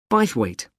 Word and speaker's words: Bythwaite: held in bythwaite Hall sorry how do you spell that b y t h w a i t e bite weight is it easy to find I'm not very